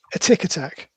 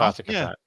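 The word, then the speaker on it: Atic Atac: I've heard it said as a tick attack. Which didn't make much sense, but I'm pretty sure it's Attic. I'm pretty sure it's Attic Attack.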